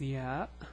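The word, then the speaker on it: ي: Okay, so the name of the letter is ya, ya, and the pronunciation is ya. It's similar to the Y in English.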